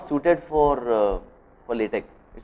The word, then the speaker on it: LaTeX: Of course, pronunciation is nothing, it is not the important thing, but still I request people to say LaTeX.